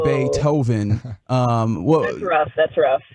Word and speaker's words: Beethoven: he he might have pronounced it bait Hoven as opposed to bit Hoven um that's rough that's